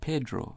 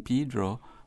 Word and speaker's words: Pedro: or Pedro in Cayman many many insist on saying Pedro been saying the name the way the Spanish name begins to sound just like we say Peter I think maybe that English influence is there working on that Spanish word management either Pedro right mm-hmm right but it is originally Pedro and as I say